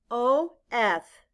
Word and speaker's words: of: spell it out loud o f in this word the letter o stands for the short u sound ah and the letter f stands for the v sound blend with me uh of now sky write the